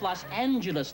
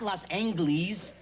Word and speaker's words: Los Angeles: talking about geography besides is pronounced Los Angeles not Los angley's that's how he says